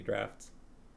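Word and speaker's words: draught: talking about air but it's spelled d-r-a-u-g-h-t fluttering because i don't think it should be like fluttering in the drops and i don't think there's a third way of pronouncing it so i think it should be drafts sharkies say draft sounds right pharma says she thinks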